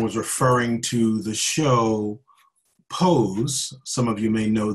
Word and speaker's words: Pose: And this person referred to Pose as posse.